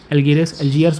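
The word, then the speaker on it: Algiers: अल्जीरिया के capital का नाम है अल्गेरिस। अल्जियर्स बोल सकते हो, एलियर्स बोल सकते हो, आपके ऊपर है, प्रोनाउंसिएशन आपके ऊपर रहता है वो, अल्जीरिया का, ठीक है।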